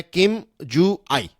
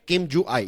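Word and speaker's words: Kim Ju Ae: यह जो लड़की है इसका नाम है किम जू आई राइट किम जू आई यह प्रोनाउंस है इसका तो यह किम जू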